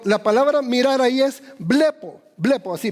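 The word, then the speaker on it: βλέπω: Entonces Cristo dice, cualquiera que mira, y la palabra en griego de mirar hay dos, pero la palabra mirar ahí es blepo.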